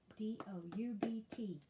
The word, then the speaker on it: doubt: often psalm p-s-a-l-m yolk halfway h-a-l-f-w-a-y halfway doubt d-o-u-b-t doubt calm c-a-l-m calm thumb print t-h-u-m-b p-r-i-n-t